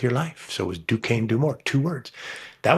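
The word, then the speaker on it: Duquesne: Dukane University had a problem with no one knowing how to say their name outside of Alagany and the five contiguous counties.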